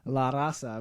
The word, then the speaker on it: La Raza: La Raza.